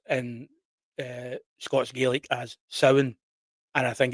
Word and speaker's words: Samhain: I was going to read it in the the the voice of Sam Hayne, but uh so Sam Hayne is a character.